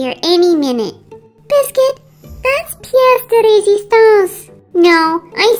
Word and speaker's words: pièce de résistance: Yeah, the unicorn I ordered will be the Persistence du PS. She should be here any minute. Biscuit, that's pièce de résistance.